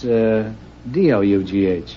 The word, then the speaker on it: dough: How do you pronounce D-O-U-G-H? That's dough. Then I'll just call you Mr.